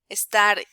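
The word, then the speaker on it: está: is showing you that the syllable with more accent with more with a strength in pronunciation is the last one esta and if it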